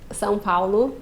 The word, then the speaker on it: São Paulo: São Paulo. São Paulo?